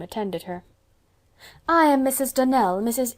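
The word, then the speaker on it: Donnell: you pronounced our name Donald now Miss Shirley the correct pronunciation of our name is Danelle Accent on the last syllable I hope you'll remember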